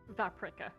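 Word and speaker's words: Vaprik: p r i k oh like paprika except V vpra okay that's a really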